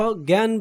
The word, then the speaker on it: জ্ঞান: তোমরা দেখতে পাচ্ছ জ্ঞান বানানে বর্গীয় জয়ে ইয় থাকায় আমরা উচ্চারণে এই আধনিকে এদনি লিখেছি।